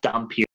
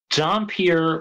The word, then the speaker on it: Dhampir: Anyway, so the story is the Marcus brothers and D, who are not working together because D is a half vampire, a Dhampir, who they also call a Dunpeel, which I in have like never the English heard version, they that phrase.